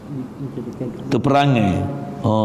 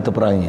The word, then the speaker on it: terperangai: Terperangai. Yang tu kot. Terperangai. Baca terperangai bukan terperangi.